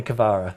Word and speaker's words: Kvara: In his own words, just call me Kvara.